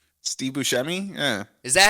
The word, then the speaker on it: Buscemi: on a Saturday Night Live sketch with Steve Buscemi in the People's Court. Who? Okay. There's this sketch from Saturday Night Live. What was the name you said? What? Steve Buscemi? Steve Buscemi. Steve Buscemi?